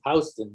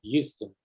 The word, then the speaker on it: Houston: a vienna georgia and there is another weird pronunciation about the houston streets in new york yeah that's right hello it's south of houston not houston joining us from uh the seattle washington area